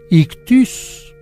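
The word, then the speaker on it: ἰχθύς: es griego Pero bueno pez en griego se dice ictus se escribe ictis y fíjese que los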